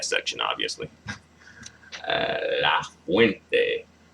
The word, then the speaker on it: fuente: La fuente. Fuente. Oh, fuente. The stress is on the second to last syllable.